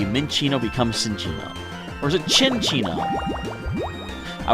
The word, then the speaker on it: Cinccino: M before C, Minccino becomes Cinccino. Or is it Cinccino? I would think Cinccino, but then I'm making a ch sound with 2 C's, because,